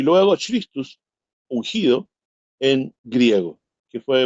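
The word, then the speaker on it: Χριστός: Y el otro significado que tiene es en griego, porque Masiaj es en hebreo, significa ungido, salvador, libertador, y en griego se pronuncia Christus, en griego significa Cristo, que es el ungido.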